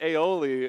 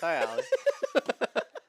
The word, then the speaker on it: Ioli: It was, I think it's pronounced aioli, and it made me laugh so No, it's Ioli.